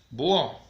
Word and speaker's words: búho: bono búho lleva tilde y si en la u bush se cree así mira de larga o h que no suena esta h no son es muda se acuerdan que lo